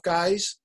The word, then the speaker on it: guise: Well, my first film was called Tough Guise. and the word guise is spelled G-U-I-S-E. So it's sort of like disguise, you know, tough disguise or tough guise.